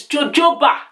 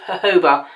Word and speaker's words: jojoba: So the oil I'm using here is jojoba. No, actually it's called jojoba. I don't know why people call it jojoba, and maybe because it's spelled J-O-J-O.